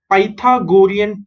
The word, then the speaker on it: Pythagorean: Py is pi, tha is tha, go is go, rean is rian. Okay, pi, tha, go, rian. Pythagorean. Okay, so it is somewhat related to Pythagoras theorem. So Pythagorean triplet.